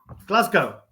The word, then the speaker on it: Glasgow: like you going to Glasgow that's Scotland and whoa whoa whoa brunch Warren said Glasgow how do you say it Glasgow Glasgow Glasgow Glasgow Glasgow just forget about the W Glasgow oh Glasgow well